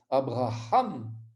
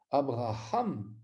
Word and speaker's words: Abraham: Et on doit entendre ce Hé, Abraham, Abraham. On doit tout faire pour l'entendre, cette lettre. Elle doit être prononcée de manière expressive, comme la haine, la H ou l'interjection ha.